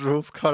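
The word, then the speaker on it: Rouxls Kaard: Wait, his name is supposed to be pronounced Rules Card.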